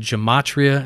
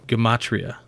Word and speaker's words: gematria: I said gematria, and he told me there's no soft G's in the language, so gematria.